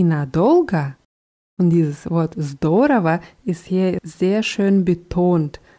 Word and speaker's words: здорово: Und dieses Wort здорово ist hier sehr schön betont. Здорово heißt super, klasse oder prima. Nur die Betonung ist wichtig auf der ersten Silbe.